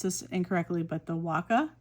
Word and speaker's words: Waka: Um, this is from the I'm probably going to pronounce this incorrectly, but the Waka, w a k a, uh, a Waka poetry is what this line is.